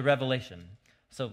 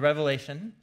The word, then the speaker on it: Revelation: the book of the revelation not revelations with an S on the end it's the most common mispronunciation of the book the revelation and you know I